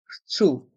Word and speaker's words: chaud: Dans le mot chaud, les voyelles A et U font le son O. Chaud. Et le D est muet.